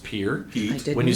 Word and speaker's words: Pierre: Sometimes people say Pierre, but it's pronounced Pierre.